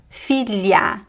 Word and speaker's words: filha: Julho velho filha l l You kind of have to touch the tongue on your the top of your mouth and slide it.